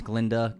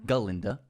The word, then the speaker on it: Glinda: was really fun as Glinda galinda the gut is silent the gut is silent